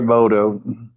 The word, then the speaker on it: Emoto: It's Dr. Emoto. Thank you, Emoto.